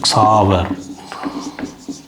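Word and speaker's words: Xaver: லுக்சூஸ் luxury லுக்சூஸ் இத ஒரு பேரு சாவர் சேவியர்ங்கிறதை சாவர் அப்படித்தான் உச்சரிப்பாங்க சாவர் சாவர் சேவியர் அந்த பேருக்கும் இப்ப அடுத்த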